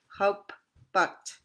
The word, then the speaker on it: haupat: Au, as in haupat, haupat. Remember the two P's there. You got to stress your P's there. So because there's two P's there, you say haupat, haupat.